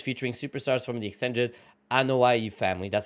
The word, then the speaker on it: Anoa'i: out dream matches featuring superstars from the extended Anoa'i family.